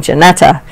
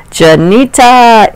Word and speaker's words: Janita: I've been saying Janetta. Janita in the house.